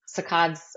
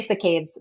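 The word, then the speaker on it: saccades: Sacods I'll spell that too because I think a lot of people ask me that it's um and some people say cicades but what cicada is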